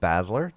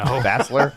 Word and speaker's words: Basler: This is Tom, and joining us once again is Basler. Did I say it right that time? No. No, No. Basler. you never have.